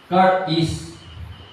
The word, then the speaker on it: charis: words Mga kapatid ang ibig sabihin po nito car is so Yun pong ibig sabihin ang spelling po nito charis c h a r i s Pero kung So kung i-pronounce car is ganon so Mga kapatid ang ibig sabihin po